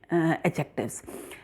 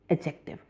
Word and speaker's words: adjective: is working as a adjective. And one thing more, always remember the pronunciation of this word is adjective, not adjective. D is silent in this word.